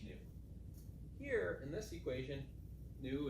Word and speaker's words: nu: lowercase Greek letter n it's pronounced new this stands for the